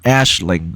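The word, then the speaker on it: Aisling: mcken with the song Ashling I've been told that's how you pronounce it because that's Irish and not English mcken was selected through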